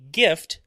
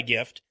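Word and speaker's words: Gyft: in number three um the gift card company gift uh that's called that's spelled g-y-f-t uh they suffered a data breach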